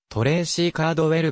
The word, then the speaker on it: トレイシー・コールドウェル: 飛行士である名前の発音はトレーシーカードウェルが近い 2007 年 8 月